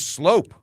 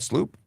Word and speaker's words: Sloop: That's Deputy Sloop, pronounced like, it's Slope. It's Slope, not Sloop? Why did I think it was, okay. Silent U?